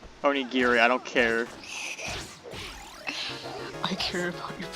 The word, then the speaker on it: onigiri: I'm gonna buy like 20 onigris and just go slam myself on that plushie until I get it. Onigiri. Onigiri, I don't care.